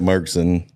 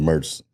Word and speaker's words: Murchison: Yeah, the town folk call it Murchison. The rest of everybody else calls it Murchison.